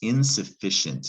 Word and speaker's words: insufficient: insignificant insignificant next word in suff is that it looks like fick ah this is the tricky part you either know this or you don't that's insufficient and we're going to